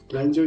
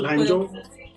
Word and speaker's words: Lanzhou: that, okay, you have successfully been admitted to Lanzhou University for master's program in ecology.